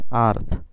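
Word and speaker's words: earth: কিন্তু নিচের ক্ষেত্রে উল্টো, নিচের ক্ষেত্রে হচ্ছে কি ই এবং আ এর পর যদি কনসোনেন্ট থাকে তাহলে আ এর উচ্চারণ করতে হয়।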